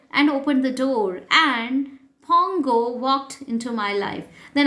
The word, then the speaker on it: Pongo: N is silent here, you have to read it as Pongo.